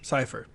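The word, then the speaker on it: Sypha: a spectra spectra decipher cipher it's sy PHA yeah cipher that's how they say it so Kurt you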